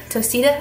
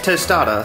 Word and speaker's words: tostada: then we'll add our tostita. Is that how you say it? Tostita? I don't even know what it's called now. Tostada. Tostada, okay.